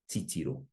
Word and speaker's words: titiro: Going over a few more examples, how would you pronounce the following? Kōrero, kōrero. Whakarongo, whakarongo. Titiro, titiro.